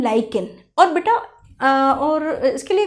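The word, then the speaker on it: lichen: तो इसमें सबसे अच्छा एग्जाम्पल है लाइकेन, कुछ लोग इसको लिचिन भी प्रोनाउंस करते हैं।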